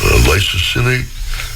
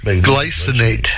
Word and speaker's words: glycinate: that individual, whether it's magnesium malate or magnesium lysosinate. I can't say that word. How do you say that word, Dr. Wyrick? Glycinate.